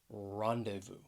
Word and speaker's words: rendezvous: word right here rendezvous it has three syllables the stress is on that first syllable rendezvous and if people ever want to get together they may rendezvous at a certain place